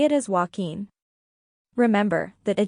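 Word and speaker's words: Joaquín: n s the key is in stressing each syllable name five Walkin Walkin a Spanish name often trips people up say it as walking remember that a J in Spanish often sounds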